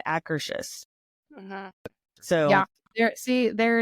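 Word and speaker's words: Akershus: because I always said I always said acurus and so we were there one year and I so I went up to him we were GNA ride Frozen and I was like okay how do you say the name of this restaurant because I know I'm saying it wrong and I'm pretty sure she was saying acous so yeah there see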